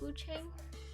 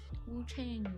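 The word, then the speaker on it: Wuchang: I really love how beautiful Wuang, is it pronounced Wu Chang? Wu Chang is. I asked that, but I'm like pretty confident that's how it is.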